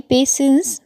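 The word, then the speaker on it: patience: साथ धैर्य रखो बी पेशेंस विद हिम इसकी स्पेलिंग पेशेंट दिखती है लेकिन इसका प्रोनंसिएशन पेशेंस होता है मतलब धैर्य रखना ही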